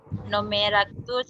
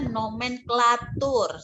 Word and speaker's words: nomenklatur: Yanda, ini bacanya nomenklatur. Salah nih, nomenklatur.